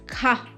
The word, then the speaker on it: quart: So T is silent here, and the pronunciation is car.